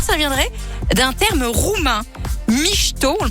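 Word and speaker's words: mișto: en l'occurrence ou alors ça viendrait d'un terme roumain micho on le prononce comme ça mais ça s'écrit m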